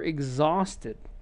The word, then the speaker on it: exhausted: the very same reason there exhaust ted extra syllable why because if you look right here that t is there instead of the d here that we had on the left she says exhausted and so again you have an extra syllable that happens when there's a d or t right before that before the ed okay so you have